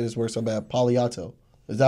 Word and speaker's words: Palo Alto: I want to say this word so bad, Palo Alto. Is that how you say it right? Mm-hmm. Palo Alto.